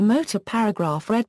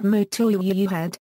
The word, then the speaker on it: Motörhead: However, this umlaut does not alter the pronunciation of the band's name. When asked if Germans pronounce the band Motörhead, Lemmy answered no, they don't. I only put it in there to look mean.